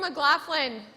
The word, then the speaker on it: McLaughlin: Jason McLaughlin I said that right Jason they're right he's got one of those names of spelled with the silent letters so I had to